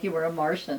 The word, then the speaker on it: Marsian: i thought as martian like you were a martian it's true that's how you pronounce my name martian yeah okay that's good to know i mean some people say marshawn i remember you because i like shortly after